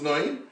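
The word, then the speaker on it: נון: It comes out that Yeshua's name is really Yeshua ben, if it's spelled with a segel Noin. His father's name was not Nun, was Noin.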